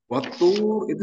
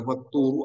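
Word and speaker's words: وَالطُّورِ: Kita lihat saja dari bentuknya itu watturi, dibacanya turi, tidak boleh watturu atau watturo. Karena sumpah itu harus selalu dibaca di dikhofatkan. Di sini ciri khofatnya itu kasroh. Watturi demi tur.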